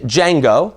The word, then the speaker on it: Django: of a slave named Django the D is silent and how he comes